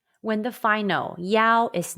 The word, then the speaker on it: yao: knock in chinese question when you see i-a-o and y-a-o in pin in how would you pronounce them the answer is yao are there any topics